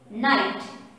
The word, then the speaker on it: night: opposite of day day night n i g h t knight n i you see n i g ht9 over here g and h or simply g over here is silent g is slided over